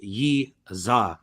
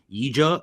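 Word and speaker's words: Yizha: Khan Ofli versus Yi Za, okay, which they've been calling something else, not Yiza, which is what it's always been pronounced as. Now they're calling him like Yija or something. I don't know, something weird.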